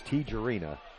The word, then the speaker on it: Tijerina: So there, I heard it pronounced correctly. It's Tijerina.